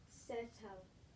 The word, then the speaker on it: settlement: Breathe the E, and then we can cross out that T because it was with the adjective, so we don't say settlement.